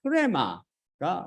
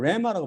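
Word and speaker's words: ῥῆμα: 로고스가 아니라 프레마가 바로 육신을 살리는 성령님이라고 47강에서 배웠잖아요. 그래서 여기서는 바로 프레마. 참고로 어떤 분은 프레마를 레마라고 말합니다. 레마라고 말하는데 이거는 고대 헬라어 발음법에 따르면 이건 잘못 발음한 거죠.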